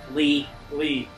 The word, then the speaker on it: Lea: Or, is it pronounced Lee or is it pronounced Lee? Lee.